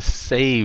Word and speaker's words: save: dùng bằng như vậy phát âm save với lại safe nhưng sao một cái âm V một cái âm F thôi save với lại